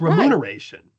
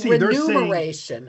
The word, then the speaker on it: remuneration: You switch the M and the N. It's remuneration. It's remuneration. And I would say renumeration. I'm sorry. They're saying renumeration. Oh, I see what you're saying. Most people switch the M and the N. Wow. Oh, I thought the problem was the U. The remuneration mude. That's what I thought. The problem is the you think number.